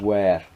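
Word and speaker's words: Wera: I'm saying these are almost as good, if not the same, as Way and Wear, right? Which is Way is spelled W-I-H-A, and Wear is W-E-R-A, right?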